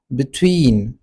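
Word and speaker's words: between: अच्छा दूसरा वर्ड है हमारे पास बिटवीन। बिटवीन अगर आप देख लें तो इसमें हमारे पास दो सिलेबस है बी ट्वीन और इसमें जो स्ट्रेस आपने लगाना है वो सेकंड सिलेबल पे है ट्वीन पे ठीक है अच्छा तीसरा वर्ड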